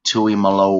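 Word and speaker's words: Tuimoloau: number 44 is JT and as it's technically pronounced it's JT Tui Malo wow what a name and do not it's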